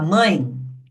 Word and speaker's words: mãe: Então, quando a gente fala mãe, reparem que esse é tem som de i.